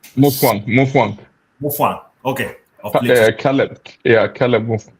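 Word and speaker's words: Mutfwang: Matafika or something like that. I'm not good at pronouncing his name. Mufwang.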